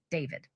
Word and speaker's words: D4VD: and much older boyfriend, the singer known as David. While his stage name is spelled with a four, his legal name is David Anthony Burke, plain and simple.